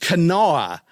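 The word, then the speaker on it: Kanawha: You know, it's pronounced Canoa.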